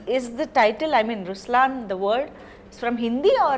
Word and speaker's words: Ruslaan: oh yeah okay so even in raslan when you say raslan also means the line it's the attitude of but the right pronunciation is Ruslan okay there is so